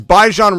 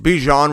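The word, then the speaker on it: Bijan: Look, even the computer is pronouncing it better than that guy. That's a computer animation that's saying BJ Bejan Robinson. He sounds it sounds it out better.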